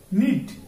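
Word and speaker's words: knead: এরপর আমরা দেখব নিট, কে এন আই টি নিট, অর্থ বোনা, এন কে এন ই এডি নিট, এর অর্থ হচ্ছে পিসা বা দলা করা, অর্থাৎ দলা মলা করি না আমরা, পিসি এইরকম নিট।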